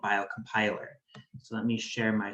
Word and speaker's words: biocompiler: the name so first you pronounce it bio compiler not bio crn piler although you could say that if you wanted to i suppose but